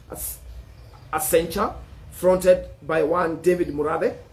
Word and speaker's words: Accenture: fronted by sabina then there is a kencha accenture account i'm not sure about the pronunciation but it's a double c e n t u r e as accenture fronted by one david morade david morada who's